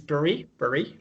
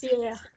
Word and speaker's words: Pierre: This is Pierre. husband. Yes. A clue in French, always the last letter, they don't pronounce the last letters.